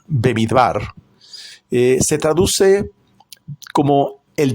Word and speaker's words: במדבר: Porque esta pará que se pronuncia bebidbar eh se traduce como el desierto, ¿no? Bemidbar en realidad es una eh son tres palabras, baid bar.